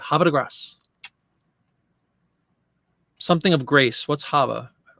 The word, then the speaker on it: Havre de Grace: And somebody said, you say it really quickly. Havre de Grace.